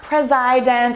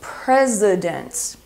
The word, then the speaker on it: president: So it's not president or president, it's president.